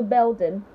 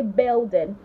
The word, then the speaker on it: building: seventh floor of the Belden Belden you didn't hear me say building that's not correct you say building we are located on